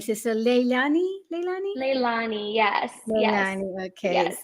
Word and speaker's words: Lailani: how do you pronounce your name, sister? Leilani? Leilani? Leilani, yes, yes, Leilani.